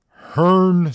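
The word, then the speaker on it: Hrncir: that's a guy that's a human name it's pronounced Hearn sir it is spelled HR n c i r are you that's a real name I Hearn hearer that's wild I'm yeah that is that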